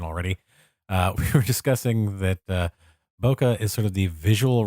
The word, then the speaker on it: bokeh: I know that was terrible, and I also know it's not technically pronounced bokeh. It's bokeh.